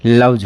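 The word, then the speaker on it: loves: इसमें एस जोड़ रहे हैं तो इसका जो प्रोनाउंसिएशन है वो आपके पास में लव्ज होगा।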